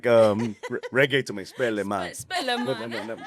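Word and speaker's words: Spellemann: So you were nominated for Best New Artist and R&B Soul at the Spelman Award. Is that I'm pronouncing that right? Spelman? Spelleman. Spelleman. Hey.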